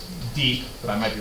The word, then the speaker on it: Dieppe: So the Allies ended up targeting this small little French coastal town, which I believe is pronounced Dieppe, but I might be wrong about that.